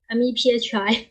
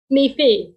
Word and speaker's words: MEPhI: So the sponsors we have is BICA Society, our college, and you, MEPHI. Sorry, I don't know how to pronounce this. MIFI.